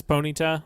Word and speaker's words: Ponyta: Pita I mean it's it's a pronunciation thing you can say it however you want to um except for that's you're saying it wrong corpin it is Ponyta so please well you